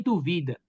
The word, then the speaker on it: duvida: Olha, eu coloquei dúvida e duvida. Dúvida é substantivo e duvida é verbo, né? E além disso, tem uma variação na sílaba tônica.